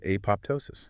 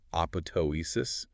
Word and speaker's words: apoptosis: Technically, the second P is supposed to be silent, like apoptosis. But I mean, pretty much every biologist today pronounces it apoptosis, so we're just going to stick with that.